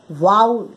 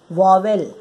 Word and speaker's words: vowel: तो इसी तरह से VO, हम इसको पढ़ेंगे वाउल, नॉट वॉवेल।